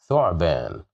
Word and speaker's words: ثعبان: ثعبان, ثعبان, ثعبان. Here we have dhamma at the top of the letter th, so we pronounce it as thu, ثعبان.